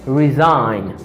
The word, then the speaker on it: resign: after that i have resign resign i say resign because the letter g is silent the uh uh design